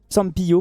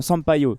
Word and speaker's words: Sampaio: L'arbitre de la rencontre sera Wilton Pereira Sampaio Sampiou plutôt. Sampaio. Non non non, Sampaio.